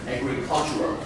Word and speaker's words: agricultural: So you can number 11 this word on the third syllable is agricultural.